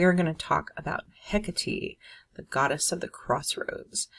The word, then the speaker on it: Hecate: hecate um some pa some people call her hecate that's fine either way the greek pronunciation is hecate um she's a very